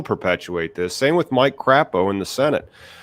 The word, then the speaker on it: Crapo: this same with Mike Crapo in the Senate Crapo is how it's actually pronounced he stymied the the